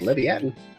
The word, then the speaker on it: Leviathan: Yeah, it's pronounced Leviathan.